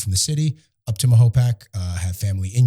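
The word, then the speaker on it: Mahopac: I've I've gotten a lot of smoke for saying Mayapac sometimes from the old-timers, so I say it correctly. I'm also part of the Rotary Club, so they they tend to uh correct me often. It's Mahopak. So, 21 22 years I've lived in Mahopak.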